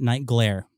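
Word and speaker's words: Nightglare: It rhymes with nightmare. Okay. And I'm calling it Night Glare.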